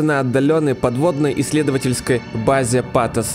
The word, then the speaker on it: Pathos: Действие игры разворачивается на отдаленной подводной исследовательской базе Патос 2, которая на самом деле читается пафос, но, как сказали на Stop Game, это слово в русскоязычной среде имеет слишком выраженный эмоциональный окрас, поэтому лучше Патос 2, где машины начинают обретать человеческие черты.